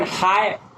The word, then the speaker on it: high: Then high. H-I-G-H. Which letter is silent? Can you say? Yes. Kumar, can you say? H-I-G-H, high. Yes. G-H is silent.